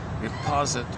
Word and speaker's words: riposte: Her righteous indignation and pain over the obsessional's distantiation, there it is again, distantiation becomes in effect a neat, critical riposte, R-I-P-O-S-T-E, how do you pronounce it?